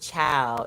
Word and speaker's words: ciao: CIAO is pronounced chow. It's Italian.